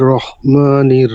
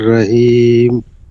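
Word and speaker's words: رحيم: বিসমিল্লাহির রহমানির রহিম। রাহিম না কি হবে, রহিম হবে, রহিম। রহিম।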